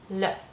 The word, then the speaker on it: le: The becomes le. Sounds like the, but it's more le.